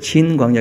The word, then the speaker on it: 신광야: 그 우리말로 쓸 때 그냥 신이라 써서 신광야가 된 것인데, 그 진이라고 하는 그런 발음이 더 가까운 발음일 겁니다. 그래서 진광야 이렇게 쓰면 훨씬 더 그 이해가 쉬울 겁니다.